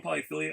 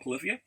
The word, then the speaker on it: Polyphia: I'm understanding, because I pronounce things based on how I read it. So I call them Polyphilia. I hear they're called Polyphia, but they're an amazing band that doesn't do vocals.